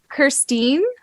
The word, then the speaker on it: Kirsteen: of all I want to know if I'm pronouncing your name correctly okay let's eat it how did you say it sorry Christine yes yes oh my goodness did you get